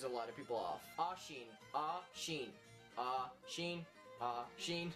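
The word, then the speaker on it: Oisín: Ashin. Ashin. Ashin. Ashin. People either pronounce it Ashin or Oshin.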